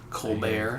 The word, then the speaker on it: Colbert: He's keeping the pronunciation of his name. Colbert. Colbert.